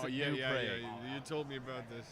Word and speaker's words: New Prague: cities in Europe, but we pronounce them differently on purpose. We have a city called New Prague, and we pronounce it New Pra.